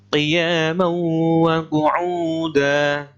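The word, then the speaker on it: قِيَامًا وَقُعُودًا: Yang selanjutnya adalah qiyaman wa qu'uda. Ya, ini qiyaman, qiyaman. Ini bacanya idgham bi gunnah, dengan mendengung.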